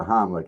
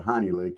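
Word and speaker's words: Heimlich: I don't think, you know, as far as the Heimlick, he he pronounces it wrong. He doesn't call it the Heimlick. He calls it the honey lick, and he ain't got it right yet.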